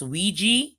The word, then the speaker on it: Ouija: It's pronounced Ouija. You see it? Ouija board. Possessions. Caught on tape. But that word we pronounce here as Ouija. Excuse me, Ouija. A Ouija board, okay? Some people pronounce it Ouija or Ouija board.